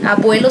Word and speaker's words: abuelo: Abuelo significa avô, ou abuela, que significa avó. E há pessoas que dizem abuelo, abuela, e quase não sai também, na verdade não sai o B.